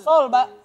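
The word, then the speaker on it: Seoul: Sou soul S E o o U bacanya gimana?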